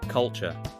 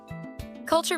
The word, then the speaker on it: culture: Culture. Culture means traditions and way of life. Food, music, language. Say culture, soft and natural. Some say culture, too strong.